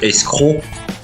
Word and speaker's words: escroc: Maintenant nous allons voir d'autres mots avec le son O finissant par d'autres lettres muettes. Cette fois-ci avec la lettre C. Ça s'écrit escroc croc mais ça se prononce escroc cro ou bien également avec d'autres mots en français.